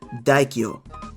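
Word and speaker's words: 大京: This phrase is pronounced daikyo and translates to daikyo hot spring or great capital hot spring.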